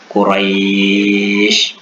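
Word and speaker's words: قريش: Quraisy dibaca menjadi seperti bunyi i, atau khauf kita baca lunak menjadi bunyi seperti u.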